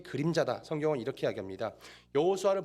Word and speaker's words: 여호수아: 성경을 이렇게 해야 합니다 여호수아는 보통 우리는 여호수아 라고 하지만 또 영어발음 어떻게 합니까 조슈아 이렇게 하지 예수 약 2조 시와